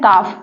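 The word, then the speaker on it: calf: example से समझते हैं पहला है काफ यहां पर देखिए एल के पहले क्या आया है ए यहां पर ए का कोई भी उच्चारण नहीं किया जा रहा है बिकॉज ए साइलेंट है काफ का मतलब होता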